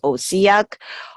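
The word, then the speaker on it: OHCAC: controlled environment Agriculture Center we abbreviate as ohc AC and we pronounce osiac osiac is very strong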